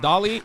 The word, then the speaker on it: Dalai: It's Dalai. It's Dalai, not Dolly. Stop.